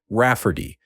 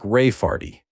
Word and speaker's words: Rafferty: to name my niece Ray Farty, pronounced Rafferty, and not at all like Ray Farty.